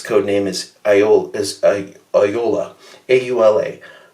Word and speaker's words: Aula: A-U-L-A. Aula. It's pronounced Aula.